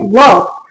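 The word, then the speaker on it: walk: वॉक वॉक बी ए एल M bomb S L silent है।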